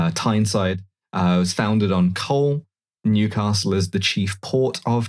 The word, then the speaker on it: Newcastle: They don't pronounce it Newcastle there, they pronounce it Newcastle, but I feel like